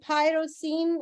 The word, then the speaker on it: Pyrocene: Diary of the Pyrocene, and pyro is spelled Pyro, and then scene as in scene, you know, like a scene of a movie.